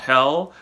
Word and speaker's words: Hel: of the underworld hell pronounced like the English word hell is the most General